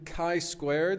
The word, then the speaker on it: chi-squared: But that's why it's going to be t-distribution, chi-squared is how that's pronounced, and f-distributions, an overview.